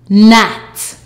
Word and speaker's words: gnat: The G is silent. GN equals N. Let's go. N at gnat.